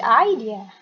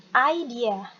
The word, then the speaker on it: idea: sounds like a good idea jadi ini bacanya adalah Hai dia bukan ide bukannya idea one more time idea